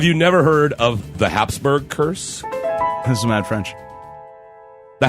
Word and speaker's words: Habsburg: never heard of the Habsburg curse mrs. Matt French the House of Habsburg it's actually Habsburg but for some reason America we'd like to put a P in there called Habsburg it's actually Habsburg what America puts their